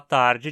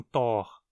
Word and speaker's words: Tag: Aqui trata-se de uma fusão de gut com tor, dia, mas a vogal A de tor passou a ser pronunciada curta, ficando assim tar e não tor.